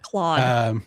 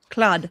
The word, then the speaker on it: Claude: Claude. Claude hoppers. Claude. Like claw. It's your Canadian accent coming out. Well, it's spelt like a Frenchman's name, so I'm going to say it like a Frenchman.